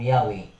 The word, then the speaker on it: Yahweh: Ang iyang transliterated form Yahweh is given because it more correctly represent the original pronunciation.